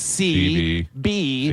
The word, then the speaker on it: Seabie: to pronounce it, you just pronounce it CB.